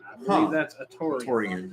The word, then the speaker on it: Atoran: n I believe that's atoran yeah that's not hard to pronounce I wonder why he goes